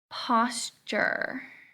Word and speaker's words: posture: Posture. Let's see. What is that group? Where does it belong? It makes a chur sound. Posture. It doesn't use CH though, it uses a T.